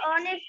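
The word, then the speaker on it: honest: দেখো হি is dash অনেস্ট ম্যান তাই এখানে এন হবে কারণ এইটা উচ্চারিত না হয়ে অনেস্ট হয়েছে গুড তাহলে এখানে আমরা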